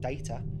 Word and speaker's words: Data: they've got they've got data who i always appreciate they pronounce data the uh the british way that's nice even the